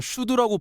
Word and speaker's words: SCHD: 이름이 영어라서 어렵게 느껴지실 수 있는데 발음은 그냥 슈드라고 부르시면 됩니다.